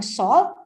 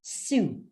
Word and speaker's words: Sault: marie so makakita parang salt or s-a-u-l-t what we but we pronounce it as su it means jump or